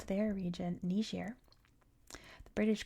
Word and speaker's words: Niger: It's definitely pronounced Nishair all over the world nowadays.